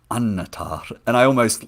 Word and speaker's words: Annatar: the end of Silmarillion, a double consonant like that you stress, so like melon or annatar, and you always tap the R in the words.